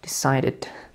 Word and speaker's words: decided: The second one is we pronounce it decided.